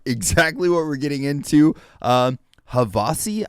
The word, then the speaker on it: Havasi: HAVASI, I believe, is how you pronounce the name of this group, and this is called Prelude, Age of Heroes.